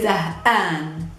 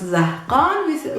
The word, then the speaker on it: زهقان: I'm bored, we say zah'an. Zah'an. Zah with an H and an. Zah'an. Even though we write it in Arabic with a qa, we don't pronounce zahqan, we say zah'an.